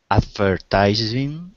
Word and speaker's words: advertising: It was to emphasize the first syllable, advertising. Advertising. Okay, advertising. Yeah, good. That's the case in a lot of long words like this where the first syllable is emphasized.